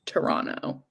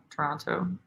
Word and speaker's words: Toronto: I had a nice lesson yesterday on how to pronounce Toronto because I say it wrong. It's Toronto. Apparently. Toronto.